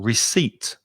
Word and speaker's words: receipt: c-e-i-p-t is really difficult just think of seats is where you sit down you sit down on a seat s-e-a-t seat and put re in front of it reseat that's it the stress is on the second syllable receipt and receipt is a